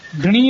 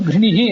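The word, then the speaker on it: ಘೃಣಿಃ: ಶ್ಲೋಕ ಅದನ್ನ ಸೂಚನೆ ಮಾಡಿದೆ ಗ್ರಿಣಿ ಶಬ್ದ ಗ್ರಿಣಿ ಅಂತ ದೀರ್ಘವಾಗಿ ಉಚ್ಚಾರ ಮಾಡಬಾರದು ಗ್ರಿಣಿಹಿ ಅಂತ ಉಚ್ಚಾರ ಮಾಡಬೇಕು ಮತ್ತು ಆದಿತ್ಯವಾಚಕವಾದಂತ ಸೂರ್ಯ ಆದಿತ್ಯವಾಚಕವಾದಂತ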